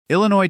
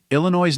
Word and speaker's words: Illinois: The French explorers who first encountered the Illiniwek adapted their name, adding a silent S at the end to fit French spelling conventions.